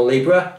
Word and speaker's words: Libre: I also have a tendency to call it Libre because it's written L-I-B-R-E, Libre. So if I pronounce it Libre or Libra, I'm talking about the same thing.